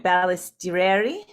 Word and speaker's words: Balistreri: I I felt lucky this morning reading about Rosa Balisteri because it um and I did I say her name right? Balististeri. Balistister. Good.